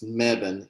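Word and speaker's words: Mebane: before you know people don't know how to pronounce it this megan m-e-b-a-n-e it's this tiny little town but it's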